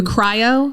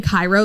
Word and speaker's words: cryo: that by the way the cryo yeah i thought you were saying cairo this whole time i probably was mispronouncing it she always calls it cairo and i love it i just like i feel like it's like kygo like the exactly and